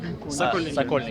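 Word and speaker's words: Sokolniki: Sokonilki. Okay, so that's how they pronounce it.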